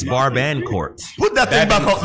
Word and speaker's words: Barbancourt: So the R and the T are silent. Whatever. Because it says babakort. Hey, can we get serious, man? Barbancourt. It's Barbancourt.